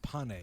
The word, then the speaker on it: Pane: It's not pain. It's actually pronounced pane. Oh, pane. I'm sorry. So, I was wrong twice. That's okay. Wow. But everybody says Payne, so that can fly.